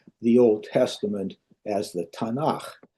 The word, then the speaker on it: Tanakh: So, if you take those first three initial letters, you come up with an acronym uh which would be pronounced or spelled Tanakh or Tanakh.